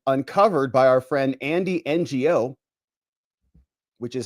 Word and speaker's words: Ngo: that have been uncovered by our friend Andy NGO, which is how you pronounce it.